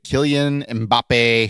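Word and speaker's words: Kylian Mbappé: And then a 2017 Topps Chrome UEFA Champions League Killian Mbappe.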